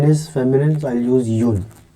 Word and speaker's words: un: So one is or yun, right? Which means one in French, and इसको pronounce करेंगे हम or yun, something like this, right?